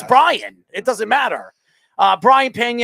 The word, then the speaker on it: Brayan: I know it's Brian. That's how it's spelled. Who cares? It's Brian.